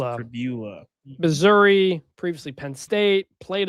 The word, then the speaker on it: Pribula: Because fibula is a word, and that makes me want. I wanted to say it, but that's not how it's pronounced. It's okay. It's not fibula. It's Pribula.